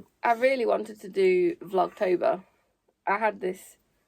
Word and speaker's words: Vlogtober: Vlogtober. Vlog Vlog. Vlogtober. No, vlog like a vlog, right? October like October.